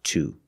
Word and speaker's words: to: With the answer, we see to is at the end of the sentence, so we stress it, and it's pronounced to.